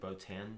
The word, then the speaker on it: Botan: How do you pronounce it? Botan.